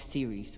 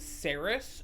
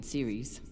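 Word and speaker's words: Ceres: had to get off Series without dos or Star Helix noticing also they're pronouncing the name of that Moon series I've definitely been calling that planet sarus for 11 years since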